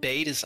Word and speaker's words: Badis: Königin signi und äh BAdIs wird Bades ausgesprochen oh gut dannest